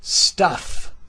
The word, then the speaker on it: stuff: Okay, we're dealing with stuff. Very common word. Let's pronounce it right. Stuff. Stuff. Okay, st. Easy. Vowel sound is short and low. It's not stuff. It's stuff.